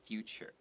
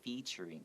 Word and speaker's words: featuring: 就是有 Emma Stone 这个人在这个电影里面。然后有些人呢，他们会把这个字念成 future。 Okay, Oh. this movie's featuring. 对 this is just a bad habit, but it should be featuring.